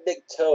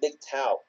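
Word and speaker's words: MGTOW: yeah it's eto W it's the acronym that's pronounced big cow yeah you know it's not big toe it's big tau and it stands for bet going their own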